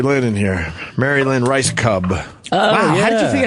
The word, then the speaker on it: Rajskub: So, how does R A J S K U B turn into Rice Cub?